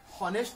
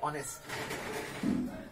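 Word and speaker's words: honest: বুলিকে উচ্চারণ করুম ঠিক তেনেকেই আমি দ্বিতীয় শব্দটির উচ্চারণ হনেস্ট বুলি নক অনেস্ট প্রতিদিকে ঠিক এনে যদি কনসোনেন্টের উচ্চারণ প্রথম কনসোনেন্টের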